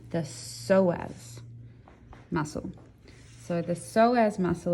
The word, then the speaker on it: psoas: abdominal oblique muscle okay this is a hard one for people to pronounce sometimes because it's a silent p the psoas muscle so the psoas